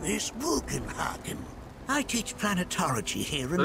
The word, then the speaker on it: Bugenhagen: My name is Bugenhagen.